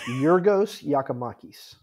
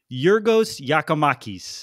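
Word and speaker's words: Giorgos Giakoumakis: How do you pronounce it? Yorgos Yakimakis. Yorgos Yakimakis.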